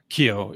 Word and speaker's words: Keogh: Keogh, yeah. See, it's KEOUGH. Yeah. So I was never sure how to pronounce it actually, but so that was pretty neat.